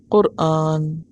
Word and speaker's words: قرآن: قرآن ہی ہے، اور صحیح لفظ اور تلفظ کیا ہے؟ قرآن۔ اور یہ خالصتاً عربی